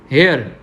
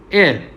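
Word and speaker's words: heir: और इसी तरह हेयर, ओके, वी से what is it's pronunciation, it pronunciation is एयर, okay. हम हेयर नहीं बोलते, क्यों नहीं बोलते, क्योंकि एच है जो फर्स्ट लेटर है वो साइलेंट है, ओके।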